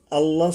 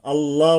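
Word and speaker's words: الله: পেশ কিংবা জবর হয়, আল্লাহ শব্দের লাম তখন মোটা করে পড়তে হয়। এখন মোটা করতে গেলে কি হবে? আকার উচ্চারণ করা যাবে না। আল্লাহ, আল্লাহ বলবো না আমরা, আল্লাহ এইভাবে।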